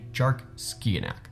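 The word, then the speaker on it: Dearc sgiathanach: found from scotland named jark skianak and the name is in traditional scottish gaelic which is why it looks like it's not spelled the way it's pronounced and that actually makes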